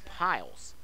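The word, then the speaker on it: Pyles: pile steps back on that's pile spelled like pyl es it's piles here comes the 1 1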